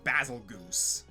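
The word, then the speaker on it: Bazelgeuse: apparently according to one of the Picos it's pronounced basil Goose yeah don't ask me why I refuse to pronounce it that way because that sounds stupid that yeah that's why I've always said basil gist because ending its name with either Goose or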